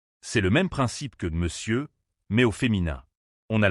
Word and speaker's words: monsieur: Beaucoup de gens ont tendance à prononcer toutes les lettres, mais il faut bien insister sur la nasalisation et ne pas prononcer le R final.